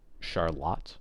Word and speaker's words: Charlotte: You'd think that's Charlotte. No, no, no, no. Charlotte. Um, yeah, it's just a lot of examples like that.